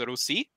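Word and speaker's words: Русь: soft e is there's that means it should be pronounced as rusi uh and that's where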